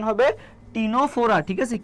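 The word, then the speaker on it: Ctenophora: টি তে কি বলতো এই সি টা উচ্চারণ হয় না টিনোফোরাটা উচ্চারণ হয় কি উচ্চারণ হবে টিনোফোরা ঠিক আছে কি উচ্চারণ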